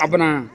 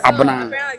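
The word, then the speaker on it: Abena: Aban.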